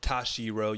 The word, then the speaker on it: Toshiro: I said it wrong earlier before the pod, but Toshiro.